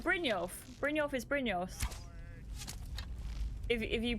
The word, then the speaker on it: Brynjolf: Brynjolf is Brynjolf. If you pronounce it correctly.